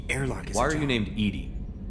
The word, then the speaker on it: EDI: reminding me the airlock why are you named edie edie is the phonetic pronunciation of edi that is an acronym for